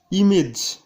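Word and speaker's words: image: Rule number 4, শব্দের শেষে এজি বা ইজি থাকলে তার উচ্চারণ ইজের মতো হয়। যেমন ইমেজ মানে প্রতিচ্ছবি, এই উচ্চারণটি আমরা সকলেই ভুল করি।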